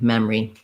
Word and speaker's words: memory: of that middle syllable they go right from the M, the second M of mem, into the R of re, memory.